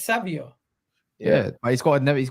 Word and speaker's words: Savio: the one time he does how do you pronounce his name it's Savio yeah but he's got he's got a nextn